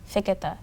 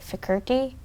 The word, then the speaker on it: Fiketa: Yeah because, um, Americans say it "Fikirky" and so my mom, I believe, thought it would be simpler to just say "Fiki".